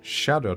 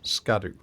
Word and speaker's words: Scadu: fragment by the way it turns out that scadu is the Old English word for Shadow so I think you're supposed to pronounce it Shadow tree rather than scadu but notice that they're